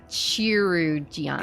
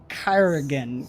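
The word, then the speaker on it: chirurgeon: it is right here Jake did pronounce it how it looks chiru Gian it's Kyan Kyan so that is the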